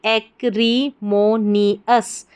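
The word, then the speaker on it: acrimonious: ए सी एक आर आई री एम ओ मो एको नी एन आई नीस तो पूरी स्पेलिंग हमारी क्या बन गई? एक्रमोनियस एक्रिमोनियस।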